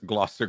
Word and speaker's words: Gloucester: maybe you got a how do you say Gloucester Gloucester Grill you know like gloss girl but yeah I'm the